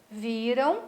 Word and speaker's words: viram: Viram, qual é a sílaba tônica, a sílaba forte? É o vi. Virão, qual é a sílaba forte? O ão, né? Lá a última sílaba.